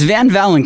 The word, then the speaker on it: Van Valin: So it's Van Valin, kind of like Valentine's Day, but Van Valin.